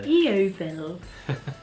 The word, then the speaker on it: Yeovil: Yeovil.